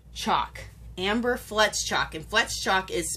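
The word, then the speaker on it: Fletschock: Amber flet flets chalk Amber flets chalk and flet shock is spelled f l e t s c h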